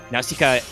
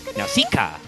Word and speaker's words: Nausicaa: buns and vote uh nausicaa which i am pronouncing correctly by the way for the greek pronunciation uh i should possibly